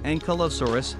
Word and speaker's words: Ankylosaurus: Name meaning, fused lizard, pronunciation, Ankylosaurus, food habit, herbivore, who named, Barnum Brown.